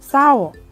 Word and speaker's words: เศร้า: สี อ่าน ว่า สี เศร้า อ่าน ว่า เศร้า ไซร้ อ่าน ว่า ไซส์